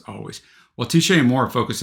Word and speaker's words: Alvvays: Oh yeah, he says pronounced always.